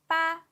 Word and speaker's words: 八: Number 8 is 八. 8 is considered as a lucky number in China because the pronunciation 八 sounds like fa, which means west.